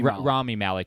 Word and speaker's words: Rami Malek: in this one so that's gonna grow me rami malek that's how you say it and then Ghostbusters